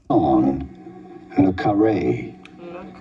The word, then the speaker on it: John Le Carré: John Le Carré. John Le Carré, British author. John Le Carré. I was saying it right. when I think of John le Carré, I think of Tinker Tailor Soldier Spy.